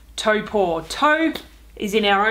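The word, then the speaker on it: Taupō: so I've made it to taupo although I should stop myself straightaway it's actually pronounced taupe or taupe is in our own toes poor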